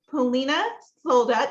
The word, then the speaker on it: Polina Solda: it so I'd love to introduce you to Polina sold out did I pronounce that correctly okay good she is known